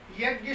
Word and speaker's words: यज्ञ: देखिए, मैडम ने जैसा पूछा, यज्ञ शब्द में गा और या इनका योग होकर के यज्ञ उच्चारण होता है।